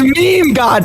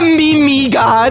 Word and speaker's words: meme God: My name was meme God, not Mimi God.